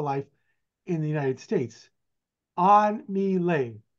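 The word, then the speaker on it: An-My: most of her life in the United States on M on M that's how you pronounce her name she's born in saon Vietnam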